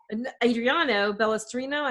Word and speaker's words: Balestrino: I'm your host, Kim, and today I've got Balestrino, as I'm pronouncing that right?